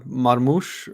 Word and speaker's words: Marmoush: Omar Marmoush, I think is how you say that.